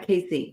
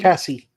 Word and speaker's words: Kasi: I think we pronounce it Kathy, not Casey. Kathy. Cassie? Cassie.